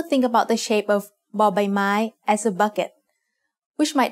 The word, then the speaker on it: บ: As the initial consonant of a syllable, บอใบไม้ makes the sound b like the b in bucket. You can also think about the shape of บอใบไม้ as a bucket, which might help you remember its sound.